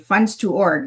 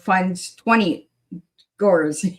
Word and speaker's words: Funds2Orgs: So I was saying it right, funds to org instead of funds 20 gores. Yeah, that's Canadian accent.